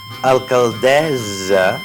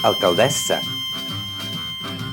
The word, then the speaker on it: alcaldessa: Alcaldessa no és correcte, és alcaldessa.